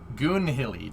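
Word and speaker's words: Goonhilly: an old raf base if i'm remembering correctly goon hilly g-o-n-h-i-l-l-y you yank yeah cerebral because you guys have never pronounced like mississippi alabama or anything like that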